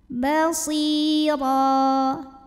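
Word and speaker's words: بَصِيرًا: Basira, huruf ra dibunyikan secara tafkhim karena barisnya di atas, maka dibacanya tebal, pangkal lidah angkat ya.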